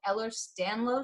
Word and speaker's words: Ehlers-Danlos: But I've talked about health issues I've dealt with and stuff, and you deal with something called Ehlers-Danlos syndrome.